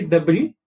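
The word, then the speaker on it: debris: Okay, and finally डेब्री, S pronounce नहीं करते, डेब्री क्या, वेस्ट मटीरियल है, रबिश है या फिर कचरा है।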